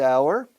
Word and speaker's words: hour: Welcome to the second hour. Claro, hour empieza por H, consonante, pero H muda, sonido vocal. Second hour.